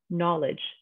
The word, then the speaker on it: knowledge: K is silent, like knowledge or knuckle or knives. We're not saying knowledge or knuckle or knives. We're ignoring that K, that's our silent letter, and we're only pronouncing the N.